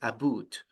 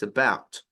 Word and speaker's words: about: pronouncing about because um Canadians usually pronounce this like aboot and it's funny I